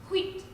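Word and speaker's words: huit: it's also a card it's pronounced wheat let me guess that's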